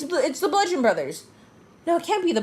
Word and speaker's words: Bludgeon Brothers: It's the Bludgeon Brothers. No, it can't be the Bludgeon Brothers. There's no B in Brothers. The B is silent. Yeah.